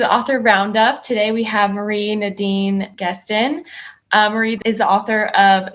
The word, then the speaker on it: Nadine Gaston: So I'm French pronunciation, right? Nadine Gaston, but Nadine, I go by Nadine for short.